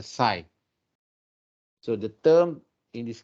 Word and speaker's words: psi: coefficient so this is known as psi this one the greek letter which we mean we pronounce it as a side so the term in